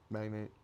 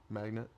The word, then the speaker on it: magnate: Magnate. Magnet. Oh, it's magnate. Magnate. Cuz there's an E at the end.